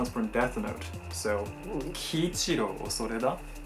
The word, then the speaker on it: Kiichiro: Như "Kiichiro Osoreda" Khi bạn nhìn vào cái tên này, nó sẽ được đọc là "Ki-ichi-ro".